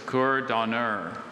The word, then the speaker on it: cour d'honneur: Cour d'honneur. Hello. Hello, sir. Cour d'honneur. Cour d'honneur. May I please have any alternate pronunciations? I have just cour d'honneur.